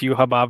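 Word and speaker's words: Yhwach: No, it's pronounced Yuhaba for some reason. Are you serious? Yeah, that's how they pronounced it in the dub, in the sub, everything.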